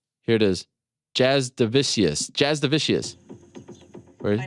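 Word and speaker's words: Jasudavicius: it is jazz divisius jazz divisius my name is Jasmine Jazz division Jazz divisius it's the Z I heard it you said it right Jazz divisius okay shout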